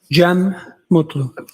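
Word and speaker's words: Cem Mutlu: It's officially spelled C E M. Uh, last name M U T L U. I also spell it with a G.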